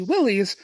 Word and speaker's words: Willys: a little bit to Willis Overland's just before World War II. And that's important because those that tend to pronounce the name of the company Willies start to become right.